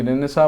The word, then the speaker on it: Renaissance: है रिनेसेंस पढ़ते हैं अी रेसेंस पढ़िए क्योंकि रेनेसा म एक्चुअली रेनेसा पढ़ते हैं लेकिन न आप पढ़िए क्योंकि उसे आपको स्पेलिंग में मिस्टेक नहीं होगा ठीक है तो